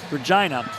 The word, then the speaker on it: Regina: And they both come from the team SAS Buck Hunters in Regina, Saskatchewan, which rhymes with fun. Regina.